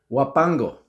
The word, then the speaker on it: Huapango: Huapango.